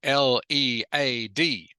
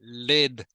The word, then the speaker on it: lead: L-E-A-D. Good, Kim Nan. This word can be pronounced either led or lead. Can be pronounced either way, depending on the sentence.